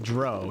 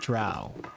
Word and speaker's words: drow: me I was so young um my Hermione pronunciation was Hermione and I also said Dro not drow and I got really bashed online for that